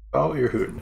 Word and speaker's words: Jebel Irhoud: Hank Green pronounces it, so I'll roll with that pronunciation. Jabal Ehud.